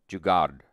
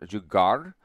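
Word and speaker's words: जुगाड़: chat is like this, jugad. But But is it pronounced? Is it pronounced with an R sound, jugar, or is it jugad? Jugad, D sound. Jugad. No R sound.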